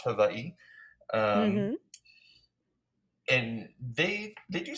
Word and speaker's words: Hawaii: in Hawaii, which I've learned on TikTok is pronounced Hawaii.